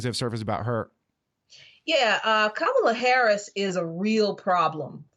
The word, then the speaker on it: Kamala: But Kamala Harris, because that is how you pronounce it. Sorry about that. She says that's the correct pronunciation of her name, but we think that she was probably Kamala up until she decided to run for president.